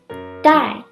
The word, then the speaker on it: 带: to take or bring also pronounced die remember both verbs use the same pronunciation but different Chinese characters if you want to